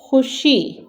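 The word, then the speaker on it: خوشی: पढे हम इसे पढ़ेंगे लेकिन वाव जो है वह इसमें भी साइलेंट होगा लिखने में हम वाव लिखेंगे लेकिन पढ़ने में हम इसको खु श खुशी पढ़ेंगे ख आ हिश ख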